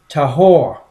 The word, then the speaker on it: tahor: word clean came from h2889 which is typically pronounced tahor and it is actually and means snake spirit